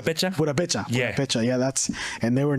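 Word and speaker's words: Purépecha: Because my mom told me that in my family we come from Perepucha. Yeah. Or I forget if that's how it's pronounced. Purapecha.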